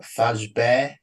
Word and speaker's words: FASB: First of all, it's pronounced Fazbe. It's French.